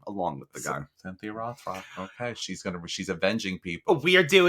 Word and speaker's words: Rothrock: I gotta learn how to say her name. Roth. Like a rock. Oh, Rothrock.